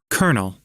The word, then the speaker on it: colonel: icon and if we push it colonel what kernel colonel colonel ah it's not colonel it's colonel